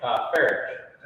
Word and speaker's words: Farich: Yeah, usually the H is silent. You know, most people think it's Farich, something like that.